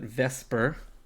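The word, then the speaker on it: VSEPR: uh even though it's written the supper people pronounce it vesper which is okay um you don't need to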